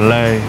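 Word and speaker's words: lê: How do you say pear in Vietnamese? Pear le. Le.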